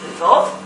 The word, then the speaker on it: Lviv: And this was happening in Kiev, in Lviv, which is western Ukraine, and Russians and Polish people always pronounced Lviv as Lvov. That's the same city. Lviv is in Ukrainian.